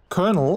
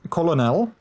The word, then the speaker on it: colonel: you got a point it's also kernel and not colonel looked at one city